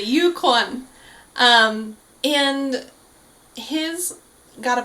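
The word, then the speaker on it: Yukwon: called Yukan um but in Korean it's uan kind of I don't even know how to explain it would be like saying the word one like you won something with a K in front of it yeah like you Yan you qu the jackpot that's a great way to put it actually Yukon um and his got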